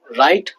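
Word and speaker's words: write: W silent जब होता है जब आर से पहले आता है। राइट, रॉन्ग, रैप, तीनों में आर से पहले आ रहा है डब्ल्यू, तो राइट, रॉन्ग, रैप, तो रे से ही नाम निकल रहा प्रोनाउंसिएशन।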